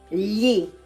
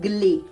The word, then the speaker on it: gli: Now, gli. Be careful with the pronunciation. Gli, okay? It's not gli, okay? It's gli. Yeah sound.